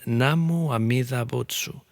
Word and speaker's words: Namu Amida Butsu: En pronunciación japonesa se convirtió en Namu Amida Butsu, que es el canto que se oye hoy en día.